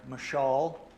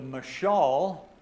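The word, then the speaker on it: מָשָׁל: So, the word proverb is translated from a Hebrew word called, if I pronounce it correct, mashal.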